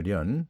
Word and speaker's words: 練: 원래는 련입니다. 련. 그런데 이제 첫머리에 오면 연으로 발음하잖아요.